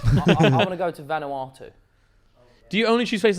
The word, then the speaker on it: Vanuatu: I want to go to Vanuatu. Do you only choose places that you can't pronounce? No, it's Vanuatu.